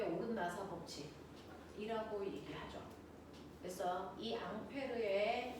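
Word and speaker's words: Ampère: 됐어.이 앙페르의 이름 원래 이름이 앙페르고요. 미국분들이 암페어라고 읽었다고 했죠.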